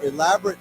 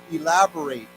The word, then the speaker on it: elaborate: say elaborate okay so you notice that last part is pronounced a little bit different the the Don has